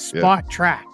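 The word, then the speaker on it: Spotrac: splitting the difference it's spot track spot track spot track spot track so say like spot and track but all smooshed together spot track spot track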